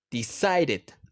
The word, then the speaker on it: decided: Decided. Decide. Sonido de D al final. Decided. Agregamos una sílaba extra.